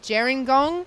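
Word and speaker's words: Gerringong: i've had a correction for some of my pronunciation it's jerengong jiren gong i do apologize um i'm learning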